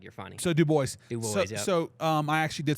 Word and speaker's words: Dubois: Idaho that pronounced it Dubois but uh you got to make sure you pronounce the S out here you say Duo out here they're going look at you like you're funny so do boys so um I actually